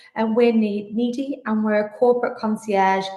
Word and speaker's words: Needi: You did pronounce it right. And we're Needi, and we're a corporate concierge gift matching service.